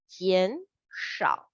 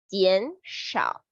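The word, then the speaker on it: 减少: It pronounced as 减少. The shao without the T, 减少.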